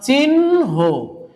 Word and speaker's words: চিহ্ন: যেমন আমরা উচ্চারণ করছি, এটা উচ্চারণ করব হচ্ছে আমরা চিহ্ন। দেখেন ভালো করে খেয়াল করে দেখো, হয়ের সাথে যুক্ত ছিল কি দন্ত ন, সে দন্ত নটা চলে এসছে হয়ের সামনে, এই যে দন্ত ন হয়ের সামনে চলে এসছে।